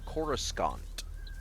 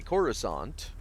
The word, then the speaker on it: Coruscant: to be cast uh he was pronouncing it Coruscant I pronounced it that way too because it's it's a weird spelling of a word uh it literally is spelled in that way um and he was corrected to say corusant because that's how they wanted it pronounced but that's my point